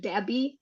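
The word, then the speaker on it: debt: pronounce this sometimes like deb collector like deb the B is actually silent so it's only like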